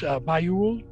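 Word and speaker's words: Bajoule: It's not something you recognize, but now that you think of it, it's spelled differently than it sounds. It's a B-A-J-O-U-L-E, but it's Bayul.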